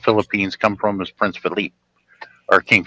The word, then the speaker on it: Philippe: because that's how the French pronounce it, Philippe, not Philip.